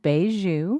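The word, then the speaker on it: mbeju: It's called beiju. Doubt it. No, seriously, I think it really is because they actually have the pronunciation on the website, even Sure.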